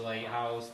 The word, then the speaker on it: Lit House: So my band is Lit House, but we don't have anything out. Good It's change. the Lighthouse, but it's spelled Lit House, so like.